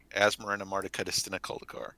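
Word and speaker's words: Asmoranomardicadaistinaculdacar: Asmarina Marticudistina Coldicor.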